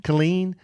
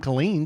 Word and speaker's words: Killeen: First things, Alan pronounces Kylene, Texas wrong. It's pronounced how Kellie said it, and it was Fort Hood, Texas, which is in Kylene, but it is now named Fort Cavazos.